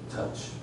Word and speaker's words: touch: 请问 o 去掉怎么念？touch，请问 o 放回去怎么